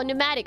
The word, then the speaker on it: pneumatic: H Oh, pneumatic. Oh, the P is silent.